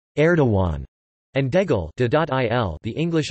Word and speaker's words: Erdoğan: That is Erdogan/e.dudatan. The English equivalent is approximately aw, i.e. Erdogan.